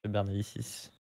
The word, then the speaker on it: Bernalicis: c'est Bernalici, non, il me semble. Bernalici, mais bon, tant qu'on dit les syllabes dans le bon ordre, c'est déjà pas mal.